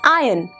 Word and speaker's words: iron: no it is called third word iron no students it is iron fourth word sometimes we